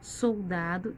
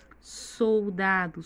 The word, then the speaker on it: soldado: Soldado, soldado. Sílaba tônica mais forte é o dá.